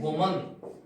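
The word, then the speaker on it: woman: उच्चारण किया जाता है डब्लू एमिनेम को विभिन्न बोलते हैं और डब्लू को एमएन को बोलते हैं वुमन ध्यान रखना वो में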